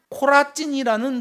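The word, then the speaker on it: Chorazin: 여기 화에 있을 진저 고라시나 이러는데 우리말로는 고라신이라고 번역됐는데요. 원래 발음은 코라찐이라는 도시예요.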